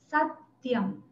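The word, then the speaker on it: सत्यम्: Как вы заметили, в правильном произношении для того, чтобы утяжелить слог, делается как бы легкая пауза и делается акцент не на предыдущую гласную, например, здесь не, мы не делаем нитьем, мы не тянем ее, мы делаем акцент на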